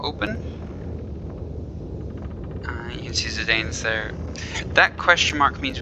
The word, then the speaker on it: Zidane: meeting our main character zidane as a few different ways i've heard people pronounce this but i've always i've always called him zidane if you call him sedan or something different that's fine now the basic controls don't